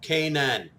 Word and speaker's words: Canaan: Canaan, it's actually pronounced Canaan.